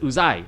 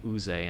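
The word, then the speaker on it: Uzay: He said he pronounced it Uzai. Okay, because he's But Turkish. who knows? We're in America now. We say Right. fucking Uze, and that's a knockoff line of Star Wars.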